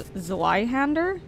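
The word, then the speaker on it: Zweihänder: console the glove box zwi is pronounces Zoo why oh I've never knew that I never heard the term out loud that's why so it's zwai hander what did you do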